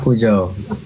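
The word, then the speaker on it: Peugeot: Pujo. Pujo. Kasi nandun yan sa nasa labas nila kung paano ipopronounce Saan?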